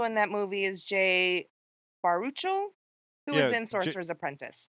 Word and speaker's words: Baruchel: And also in that movie is Jay Baruchel, who was in Sorcerer's Apprentice. Jay Baruchel, yeah. Baruchel, thank you. I've never been able to pronounce that kid's last name, but I enjoy him.